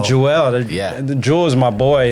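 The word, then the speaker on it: Juel: bring up the mic 2L but it's spelled j-u-e-l Jewel yeah the jewels my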